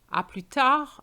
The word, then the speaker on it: À plus tard: À plus tard, the D is silent. But I'm going to say to you, see you soon.